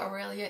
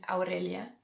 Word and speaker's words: Aurelia: Aurelia is rising in popularity. I love this name. It's at number 644. I love it even more with the Spanish pronunciation, Aurelia. But with the English pronunciation, Aurelia, you would have a